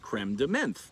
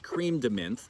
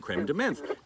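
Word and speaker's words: crème de menthe: are specifically made with creme de menthe creme de menthe creme de menthe i never know how to say it it's not creamed mint but it's basically this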